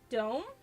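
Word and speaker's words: дом: It's pronounced dome is wait, is it?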